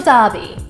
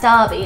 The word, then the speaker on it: derby: David we do local Derby and yes Americans I did mean to pronounce that Derby and not Derby it's a term that